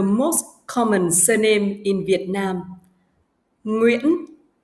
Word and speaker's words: Nguyễn: Now, I will break the word into smaller parts. E. E. N. N. Yên. Yên. Yên. Yên. This sound has the same pronunciation with the previous one. Uyên. Uyên. Nguyên, Nguyên, Nguyễn, Nguyễn, Nguyễn, Nguyễn.